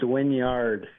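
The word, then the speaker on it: Wynyard: Now, now the big question, you being from there, is it Winyard or Winyard? It's Winyard. Okay. Okay. That's how I've always pronounced it, I think.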